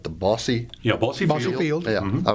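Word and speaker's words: Bosse: And in June, they put on a festival in Evansville at now I'm pronouncing it right, the Bossy.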